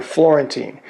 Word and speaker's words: Florentine: years ago how to remember Florentine it rhymes with the word guillotine which is you're going to